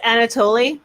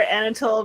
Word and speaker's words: Anatole: It's pronounced Anatoly. I call her Anatole because I think it's hilarious to mispronounce words sometimes.